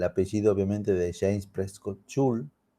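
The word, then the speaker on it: Joule: porque me parece interesante hay dos maneras de pronunciación porque el padre inglés y madre francesa entonces uno lo puede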